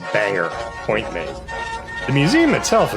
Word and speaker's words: Bangor: Land Transportation Museum in I had thought it was Bangor but no I'm from not there it's just pronounced Banger Point made the museum